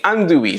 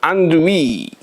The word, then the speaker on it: andouille: And I'm an American, so we're going to pronounce it andouille. Andouille. Even though that's probably not the correct French pronunciation, that's alright.